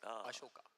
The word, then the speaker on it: Ashoka: It's not even called Ashoka halwa. It's called Ashoka. Asoka. Awesome. That's how they say it.